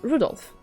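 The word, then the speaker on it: 留弗夫: That mess of characters is pronounced Rudolph.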